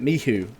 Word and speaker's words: MICHU: I've been told by a lot of Polish people to pronounce it Michu, so I'm going to stick with that for now, guys.